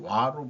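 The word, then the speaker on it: 和: 정신을 한마디로 하면은 화 일본말로 와로 발음이 되는 건데 아주 그 그리고 그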